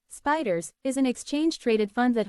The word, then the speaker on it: SPDR: depository receipts spy or spdrs pronounced spiders is an exchange-traded fund